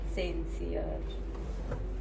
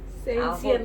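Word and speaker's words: sincere: समजदार अजून काय असतं सेन्सियर सेन्सियर नाही सिन्सियर हा तेच ते मी जिल्हा परिषदला शिकलीय आणि कुठेही शिकली तरी तुझं प्रोनन्सिएशन छान पाहिजे.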